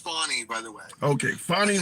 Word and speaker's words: Fani: But what I can say, also, I think it's, Tim, I think it's pronounced, her name is pronounced Fani, by the way. Okay, Fani Willis. It's pronounced Fani Willis, and I definitely agree with the judge.